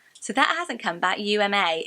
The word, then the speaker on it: Uma: that hasn't come back uma uma like Thurman um but I thought